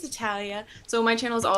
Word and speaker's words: Natalia: But I am back with another interview here, and I'm super happy about having Natalia on here. Hi. I'm assuming, is that the correct pronunciation?